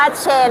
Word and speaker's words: Shein: คน สเปน นะ คะ จะ ออก เสียง ว่า เชน นะ คะ แล้ว ก็ ตอน นี้ นะ คะ